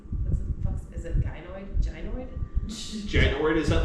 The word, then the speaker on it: gynoid: I'd say they need to have Genoid? Gynoid. That bitch never pronounced No, shit she right.